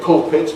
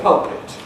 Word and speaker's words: pulpit: There are one or two words that still remain variable. I say pulpit, but there are people who say pulpit.